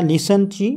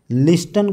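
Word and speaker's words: listen: एस टी एन तर याच्यामध्ये टीटी चा काही उच्चारच नाही लिसन लिस्टन कोणी म्हणत का नाही म्हणत का कारण टी हा शब्द सायलेंट आहे त्याचा उच्चार होत नाही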